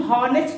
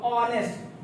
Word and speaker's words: honest: Examples देख लेते हैं, HONEST, अब देखो इसको हम क्या बोलेंगे, इसका प्रोनाउंसिएशन हॉनेस्ट नहीं होगा, जबकि इसका प्रोनाउंसिएशन ऑनेस्ट होगा, ऑनेस्ट।